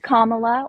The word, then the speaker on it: Kamala: It's Kamala, or you could say Harris. It's like Uh, a comma.